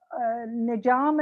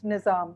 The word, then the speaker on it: Nizam: And Nijam, as you know, is the way in Khadi Boli, you would pronounce Nizam, because in Khadi Boli, Z is pronounced as J.